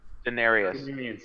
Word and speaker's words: Denarians: My friend here does not mean to be rude, but he is worried that what is this the Drenarians? What the hell do you pronounce it? Denarius. You got it.